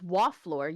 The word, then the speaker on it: Waflor: Well, that's Waflor. You just said it wrong the whole Oh, first Waffler. session, and I just never bothered to correct you.